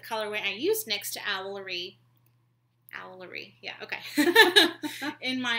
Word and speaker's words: Owlery: I've been saying it wrong. Because Stephen Fry says it Owlery. I was saying Owlery. Oh. Yeah, Owlery. Which isn't so hard once you get used to it. But it's Owlery. E-R-Y, not R-E-Y.